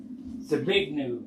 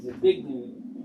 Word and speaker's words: Zbigniew: Zbigniew, that's how you say it, Zbigniew.